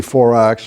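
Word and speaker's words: Faurax: Here's baby 4-ax. I'm told by my British friends 4-ax is the proper pronunciation.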